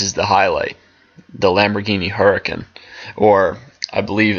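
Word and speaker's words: Huracán: But this is the highlight, the Lamborghini Huracan, or I believe it's Huracan, that's how you pronounce it.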